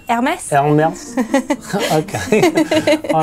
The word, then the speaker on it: Hermès: Deborah has got this thing about pronouncing that handbag brand that begins with an H. Hermès. How's it said? Hermès.